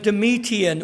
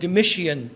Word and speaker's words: Domitian: ਦਾ ਜਿਹੜਾ ਅਗਵਾ ਸੀਗਾ was Domitian or Domitian. People Domitian, pronounce it differently.